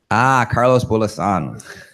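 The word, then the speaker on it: Carlos Bulosan: Carlos Bulasan. When in doubt, stress the second syllable or the last one.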